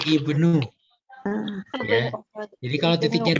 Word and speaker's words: ibnu: Ainuman anta ani abnul madrasah. Nah, ininya memang harus teliti ya titiknya. Kemudian ini adalah ba dan ini na. Jadi dibacanya ibnu.